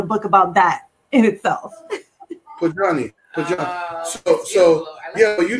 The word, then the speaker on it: Pojanee Fleury: Well, I pronounce it Pojanee Fleury.